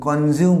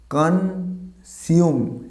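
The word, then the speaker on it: consume: এবার কি এর সঠিক উচ্চারণ কি? এটাকে আমরা কনজিউম বলি, নট আ কনজিউম। কনসিউম, এটা জ উচ্চারণ, আমরা এখানে আবার স হবে, উচ্চারণটা হবে কনসিউম।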